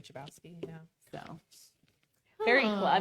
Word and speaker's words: Chbosky: Chbosky. I always say Chbosky.